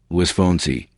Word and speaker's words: Luis Fonsi: Luis Alfonso Rodríguez López-Cepero, born April 15, 1978, known by his stage name Luis Fonsi, Spanish pronunciation, Luis Fonsi, is a Puerto Rican singer.